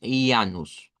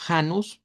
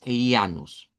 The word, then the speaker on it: Ianus: a un dios que si lo pronunciamos originalmente es ianus. Así sería la pronunciación. En español se puede decir como hanus por el sonido de la jambia, pero originalmente es ianus.